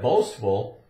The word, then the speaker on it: boastful: done we call that boastful and it's got the s T where you can hear the T in it so it's s these